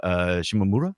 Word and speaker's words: Shimomura: By the way, the composer Yoko Shimomura, is that right? That's Shimomura, correct.